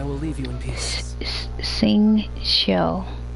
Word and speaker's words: Xingqiu: Xingqiu. So X's are pronounced like S and Q's are pronounced like C.